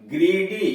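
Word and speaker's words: greedy: ग्रीडी, जी are double E डी वाई, वाई के पहले डी आया है व्यंजन, इसलिए ई की मात्रा हुई ग्रीडी, लालची।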